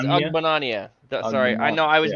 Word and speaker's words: Ogbonnia: Otito Ogbengbo. Is that it? Is that him? That's some way to pronounce his name for sure. Yeah. Otito Ogbonnia. Oh, it's Ogbonnia.